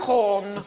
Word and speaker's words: Gauguin: Oh, it's not pronounced Gauguin. Hey. You've got two G's. in it. Gauguin.